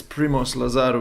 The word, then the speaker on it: Primoz Lazar: We're here with Primoz Lazar. Is it Lazar? Lazar? How do I pronounce it? Primoz, Yeah, introduce yourself, man. yeah, it's all good, man. It's Primoz Lazar, which you pronounced properly.